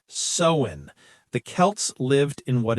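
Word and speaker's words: Samhain: The roots are actually in an ancient Celtic festival called Samwin. Samwin. That's spelled s a m h a i n but it's pronounced sen.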